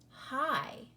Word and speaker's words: high: So the GH is completely silent, and we just hear the H and the I. Hi.